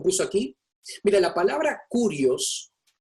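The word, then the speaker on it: κύριος: Mira, la palabra curios, traté de escribirla para que se pronuncie en español con el énfasis en el Q, curios, aparece en el Nuevo Testamento 662 veces.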